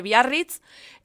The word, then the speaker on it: Biarritz: En 1915 Biarritz, que yo lo pronuncio en perfecto euskera porque Biarritz está en el País Vasco francés, está aquí al lado,